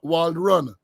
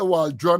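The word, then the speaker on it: Walrond: affairs onage Walrun Wald Wald run I used to say Waldron all the time I saw the thing the other day my apologies to you Minister Wald run for mispronouncing name Waldron sir that that type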